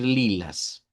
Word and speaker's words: lilas: solo vamos a decir lilas. Lilas con una a centralizada. Lila o lilas se hace plural. Eso sí tiene esa peculiaridad. Nosotros decimos lila, pero en portugués se hace plural y se dice lilas.